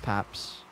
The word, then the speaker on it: Paps: It's just pronounced Paps. Just Paps, that's it.